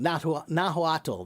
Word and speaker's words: Nahuatl: Nahuatl, that's it. I was saying it wrong. Nahuatl, that's the right way to say it, I think.